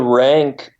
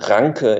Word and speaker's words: Ranke: Well, Rank, pronounced Ranke in German, but we can call him Rank.